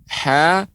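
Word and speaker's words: ح: Nah, kemudian pengucapan H Ibu tidak boleh ada hentakan. Hu. Nah, karena itu di H besar. Jadi dia pengucapannya benar-benar H kecil di bagian tengah.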